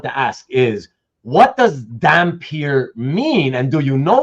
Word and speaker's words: Dampyr: and a human woman, the offspring is a damper, which they spell dh y, but for this series they dropped the h.